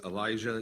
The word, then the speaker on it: Elisjsha: His name is Elijah Dickin, and that is spelled Elisjsha, and he resides in Seymour, Indiana.